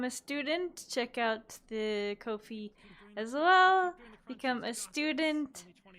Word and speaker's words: Ko-fi: Ko-Fi made a tweet, they said Ko-Fi rhymes with low fee.